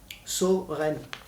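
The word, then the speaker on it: Søren: Alors là, pour le coup, ça, le O, un O barré. Le O barré des alphabets danois, norvégiens. Et pour le coup, celui-là se prononce bien O. Soren.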